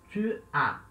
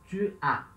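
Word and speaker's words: tu as: Tu a. Tá? Esse S aqui é mudo, então se fala a. Tu a.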